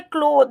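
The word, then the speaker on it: cloth: मतलब होता है कपड़ा क्लोथ बोलेंगे देखिए इसका जो करेक्ट प्रोनंसिएशन है क्लोद है नेक्स्ट है 167 सी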